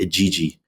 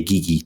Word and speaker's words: Igigi: their worker class beings called the Igigi or the Igigi, depends on how you want to pronounce it.